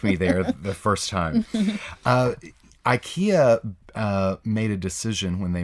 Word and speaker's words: IKEA: they did that but the actual correct pronunciation in Swedish is e ek a-- it's